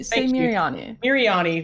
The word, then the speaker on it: Miriani: How do you pronounce Miriani. that? Just say Miriani.